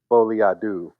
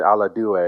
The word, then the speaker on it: Folie à deux: Folie à deux. I've been saying à la deux all day.